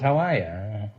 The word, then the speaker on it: Hawaii: I'm from Hawaii. Hawaii? Is that the correct pronunciation? I thought it was Hawaii.